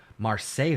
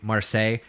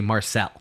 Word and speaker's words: Marseille: And if you're familiar, you don't pronounce French words with correct pronunciation. You would just say Marcel.